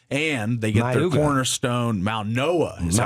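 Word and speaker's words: Mauigoa: And they get their cornerstone, Maunoa. Is that how you say his name? Yeah. Francis from the from Miami. So, It's the G as the N. Yes. Maunoa.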